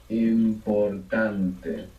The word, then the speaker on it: importante: important becomes importante, importante. Where's the stress there? Seems like the stress is on the O. Importante. In the second last.